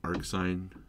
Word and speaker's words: arcsin: You pronounce it arcsine, arc cosine, and arc tangent.